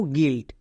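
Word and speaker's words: guilt: you silent যেমন দেখো গিল্ট এখানে ইউ এর পরে আই আছে আই ভাওয়েল তাই ইউ সাইলেন্ট যেমন জি আই এল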